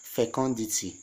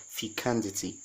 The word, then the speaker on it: fecundity: why fecundity take notes friends this is not pronounced as fecundity no it is pronounced as fecundity fecundity this is a now and it's gotten